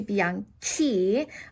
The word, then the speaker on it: bianchi: So a fun grammar fact that usually when I have a CI, it's going to sound like a ch, like chow, right? Okay, so if I didn't add the H in, it would have sounded like bianchi, and we don't want to do that. We want to keep the same K sound as bianco to match it. So bianco changes to bianchi.